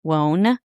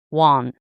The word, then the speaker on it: Wone: w o n e, Wone. So, some podcasts pronounce it as Wone, but in Chinese, it's pronounced Wahn.